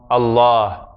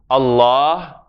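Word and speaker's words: الله: Allah, Allah. The alif, when it's after certain letters in the Arabic alphabet, becomes like Ah, as in Allah. And in English we have the word Father.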